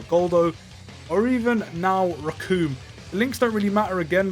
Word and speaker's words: Recoome: can see now why his name's raccoon and it rhymes with doom and you're going to